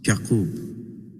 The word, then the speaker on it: Yaqub: He was introduced to us as Prince Yaqub, pronounced Yaqub, as in Hebrew.